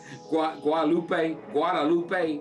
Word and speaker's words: Guadalupe: How you pronounce it? Guadalupe.